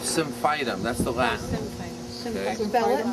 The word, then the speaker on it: Symphytum: Well, I said, well, I can't guarantee, but we can use Symphytum both as a topical poultice and, which, you know, she couldn't do really because, you know, she still had the cast on.